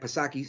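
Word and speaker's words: Psaki: and uh jen perserkelbach pasaki silent p she's like the correlation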